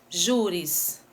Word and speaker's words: júris: Júris, a gente tem a sílaba tônica no ju, né? Que é a penúltima e termina com is.